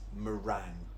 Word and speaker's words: meringue: This is meringue. It looks like meringue or meringue, doesn't it? But it's just meringue. Meringue. Now, this word here is pronounced filet.